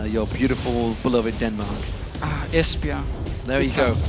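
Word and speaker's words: Esbjerg: beautiful beloved Denmark ah Espia there you go esper yeah it was actually one pronounce it i I said Esper i do espia espia there we go today I learned well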